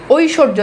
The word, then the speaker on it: ঐশ্বর্য: ঐশ্বর্য, দেখেন বফালা মাঝে আছে এই জন্য দেখেন এই যে তালেব বেশ দ্বিত্ব উচ্চারণ হয়েছে।